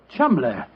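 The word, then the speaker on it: Cholmondeley: Being an American, he had no reason to know that the name Chumley is in no way pronounced the way it is spelled. Oh, Joe, I never thought of that. Chumley.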